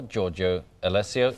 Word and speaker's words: Giorgio Alessio: To tell us more, Giorgio Alessio is here. Giorgio, good morning. Oh, good morning to you. Did I pronounce that correctly?